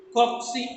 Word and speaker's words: cocci: Cocci is the plural. Cocci. COCCI. How do you? The pronunciation of this is cocci. Cocci.